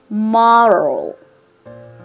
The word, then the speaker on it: morale: より難しくなります考え方としては r と l だけ出そうという心構えで行ってみてくださいマローまろどうでしょうか